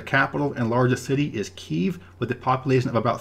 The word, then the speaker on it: Kyiv: The capital and largest city is Kyiv, with a population of about 3 million. The city used to be referred to as Kiev, Kiev, but that is the Russian spelling and Russian pronunciation of the name.